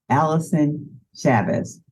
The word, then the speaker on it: Allyson Chavez: Now, today, I'm talking with Allyson Chavez. Did I get it right? Did I pronounce it right?